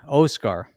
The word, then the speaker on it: Oskar: It's actually Oskar. Oscar. Stressed on the first syllable again.